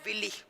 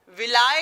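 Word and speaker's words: villi: इनका नाम होता है विली, इनको बोलते हैं विली, विलाय या विली, कभी कभी इंग्लिश में विलाय भी प्रोनाउंसिएशन कर लेते हैं इसका, विलाय विली, तो वैसे विली ही कहा जाता है, विली।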